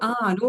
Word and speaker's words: anu: anu with a long A means mercy in their language.